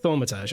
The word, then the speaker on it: thaumaturge: Because I can think of at least 4 ways to pronounce it. Thaumaturge. Thaumaturge. Is that correct, or are you messing with me? That's it. Thaumaturge.